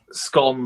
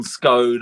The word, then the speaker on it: scone: difference that you know scon scone i mean they're i mean they're both listed in the uh they're both listed in the dictionary in the dictionaries of